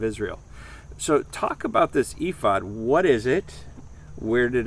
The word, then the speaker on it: ephod: You pronounce it ephod.